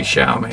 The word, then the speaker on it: Xiaomi: go with the the Xiaomi somebody messaged me on YouTube and said you saying it wrong it's actually Xiaomi is it's pronounced with an S not an X which it just doesn't